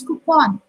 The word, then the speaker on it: coupon: Okay, coupon word हम use करते हैं, but in actual English pronunciation, it's not coupon, it's coupon.